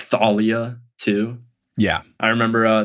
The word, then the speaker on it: Thalia: set about um like Thalia too yeah I remember uh that was a big debate that one's been settled though because at least Rick pronounces it with the th not the so I think that